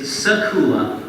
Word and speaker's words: Secula: It's Secula. Secula. The front and back half both rhyme. There's this little ooh in the middle.